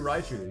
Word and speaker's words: Raichu: a raichu holographic has been pulled this raichu raichu is how you pronounce it they don't change the name on